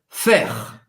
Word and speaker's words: faire: Em francês, faire. Faire. Presta atenção na pronúncia, a gente não vai pronunciar esse E no final. Faire termina no R.